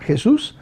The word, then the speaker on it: Jesús: My first name is Jesus, with an accent on the U, Jesus, and last name is Seade, Seade.